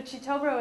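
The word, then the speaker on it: Kitobero: don't think so so chobo is spelled it's k i t o b e r o is it k i in luganda Chi that's why it's spell Cho and then W mu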